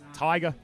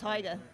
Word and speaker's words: Taiga: Tiger. Taiga. Tiger. Yeah, it's not Tige. It's not Tiga. It's Taiga. Tig.